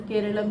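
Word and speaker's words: കേരളം: भाषा जो है मलयालम मलयालम में जो केरल है उसका उच्चारण केरलम ही किया जाता है और इसी को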